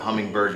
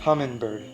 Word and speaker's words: Humminbird: to network them together hummingbird not hummingbird there's no G next to the end humming there you go hummingbird if you